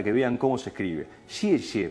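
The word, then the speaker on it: 谢谢: Xie xie parecerían ser dos sonidos similares, pero que cambian el tono. Xie, cuarto tono, descendente, casi como con tilde.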